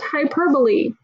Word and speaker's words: hyperbole: the word looks like hyperbole but it's actually pronounced hi purply hyperbole is an over-exaggeration have you ever heard somebody